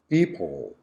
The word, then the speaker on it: people: Next one, people, people. Yes, the schwa is on the second syllable. People. the syllabic hold sound, people.